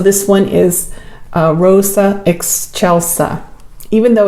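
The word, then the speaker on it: Excelsa: really pretty so this one is a Rosa ex Chelsa even though it's spelled ex ex c e l s a it's pronounced ex Chelsa whatever um it's pretty and I'm going to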